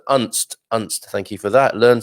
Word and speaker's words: Unst: You pronounce the U as in unstable. So Unst.